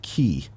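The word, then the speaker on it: χ: the X and Kingdom Hearts Union X is pronounced key yeah okay Kingdom Hearts 358 over 2 days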